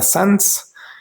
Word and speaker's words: sans: La palabra sans, esa an se pronuncia o so.